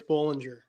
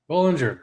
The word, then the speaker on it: Bollengier: I apologize if I mispronounced you you had it right. It's Bollinger. Bollinger, cool.